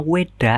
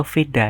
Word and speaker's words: Weda: Dalam agama Hindu, mereka mengenal kitab dengan nama Weda atau Veda. Jadi istilahnya sama ya, cuma beda pelafalan doang. Jadi ada yang bilang Weda, ada yang bilang Veda.